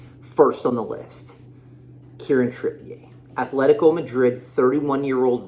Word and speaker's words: Trippier: and what's been reported karen trippier could be trippier or trippier i believe it's trippier for you people out